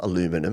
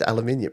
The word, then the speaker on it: aluminium: So, we've got uh heat forge aluminum unibody and it's not aluminum. It's aluminium. No, it's whatever you want it to be. You can pronounce things however you like.